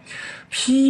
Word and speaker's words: 背: 披明都呢，这个披这个背啊，这里的背读披，当然也可以读成碑，因为什